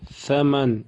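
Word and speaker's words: ثمن: Thaman, это Tha межзубно читается. Язык должен быть между зубами. Thaman. Thawru. Thawbu. Thaybu. Если вы будете читать это Tha с, это будет ошибкой. Мithлу.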